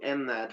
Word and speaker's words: MNAT: Yeah, we call it MNAT, which is a short version of Micronational.